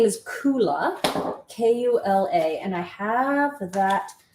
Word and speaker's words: Kula: it's i just want to make sure i'm pronouncing things correctly no there's nothing funny on this the company name is coola k-u-l-a and i have that link in the